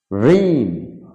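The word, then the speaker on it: reign: যেমন সাইন, জি সাইলেন্ট। দস্তখত, ন মানে চোষা। রেইন মানে রেইন মানে শাসনকাল।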